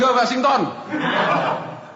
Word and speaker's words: Washington: George Washington. Betul. Bukan Georgi. Apa bacanya jangan letar lagington. Oh iya jangan George George Washington.